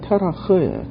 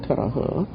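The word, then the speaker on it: תרח: 근데 이 데라가 히브리어로 어떻게 발음이 되냐면 테라흐예요. 테라흐.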